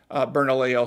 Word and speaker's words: Bernalillo: And thank you for those of you who helped me clarify how to pronounce Bernalillo, so I appreciate that.